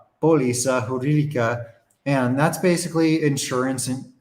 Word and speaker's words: póliza: Apparently I can't say that word. I put the accent on the wrong syllable. Póliza jurídica.